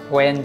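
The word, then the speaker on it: when: এখন ওয়াচ যা বা ওয়ার যা যাহা, ওয়েন যখন তখন, ওয়ার যেথায় যেখানে, ওয়াই যে কারণে, এটা উচ্চারণ কিন্তু হোয়াই না, হোয়াট না, হোয়েন না, হোয়ার না, ওয়াচ, ওয়েন, ওয়ার।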